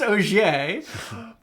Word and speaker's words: Auger: uh mispronounced uh auger it's pronounced og like i think of orange juice but it's spelled a-u-g-e-r so people are constantly